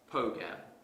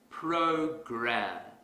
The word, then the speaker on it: program: to our previous example suppose I pronounce this word as pogam that's incorrect because the r sound is missing if I want to fix this mistake quickly I will exaggerate the r sound program here's another example let's